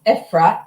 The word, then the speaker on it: Efrat: ephrat means wow ephrat it's epat it's a short e eat okay eat okay